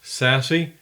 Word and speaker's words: SASE: Abbreviated SASE, pronounced SASE, it brings together networking and security functions and delivers them as an integrated cloud service.